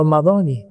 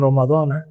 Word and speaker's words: Ramadani: Syahri radti lillahi taala dibacanya n Ramadani jangan Ramadana dalam kitabat thin